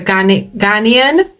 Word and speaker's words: Ghanaian: So it's a Ghanaian. Yes, that's how you pronounce it.